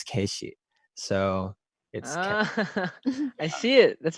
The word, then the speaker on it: Keshi: play and everything and her parents would call me KC which is my legal name but they would pronounce it as case she so I see it